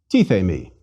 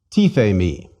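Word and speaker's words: τίθημι: Tithe me. Again, 3 vowels, 3 syllables. Did you say E for the iotas? One more time. Tithe me.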